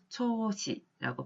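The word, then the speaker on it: 長子: 장자, 경우에 따라서 장남을 일컬을 때 일본어로는 초시라고 발음을 하고요.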